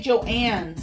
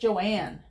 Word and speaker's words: Joanne: I always want to say Joann's, and it's not Joann's. It's just Joanne.